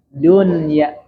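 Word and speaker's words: الدنيا: Dibacanya harus jelas. Di mana harus jelasnya? Itu nun sukunnya diperjelas ya. Ad-dunya, dunya. Nggak boleh masuk ke hidung.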